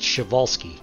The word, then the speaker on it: Przewalski: you will for the chevalski's horse i learned how to pronounce that first word i know it's not spelled that way but that's how it's pronounced chevalsky so i'm just going